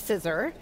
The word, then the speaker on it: CISR: CISR, which we pronounce CISR, is the Center for Information Systems Research.